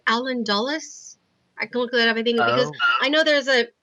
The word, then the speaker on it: Dulles: I think because I know there's a Dulles Airport that I went to once, and I think it's the same person that they named after.